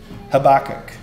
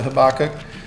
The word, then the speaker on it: Habakkuk: Habakkuk. Sorry, I looked that up how to pronounce it. It's Habakkuk. I said Habakkuk my whole life.